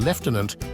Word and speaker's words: lieutenant: status and education interestingly the pronunciation leftenant isn't uniform across all of the UK while it's the standard in the British Army and Royal Navy you might still hear leftenant in the Royal Air Force and in certain regions